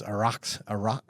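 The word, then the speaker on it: Araxá: the world behind CBMM's Araxa. I think you pronounce it Erasure. erasure. Erasure, yeah, Hoffy told me that actually.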